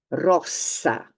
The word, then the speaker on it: rosa: pronounced s instead uh One S between two vowels is pronounced Z Kaza Kaza another example incidentally Rosa which is the Rose the flower so this is Kasa this is Kaza Rosa Rosa if you get it wrong if you pronounce it differently you're saying a different word Kasa Kazaa Rosa um